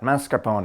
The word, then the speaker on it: mascarpone: to add our mascarpone it's Italian cream cheese so you have to say it like that mascarpone a they had this